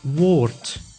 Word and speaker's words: woord: But at the end of the word, the D is pronounced as T, like in woord, which means word.